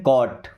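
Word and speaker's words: caught: देखिए इसे क्या पढ़ेंगे? कॉट। क्या पढ़ेंगे? कॉट। सी से क ए यू से औ की मात्रा। और टी से ट साइलेंट हो गया।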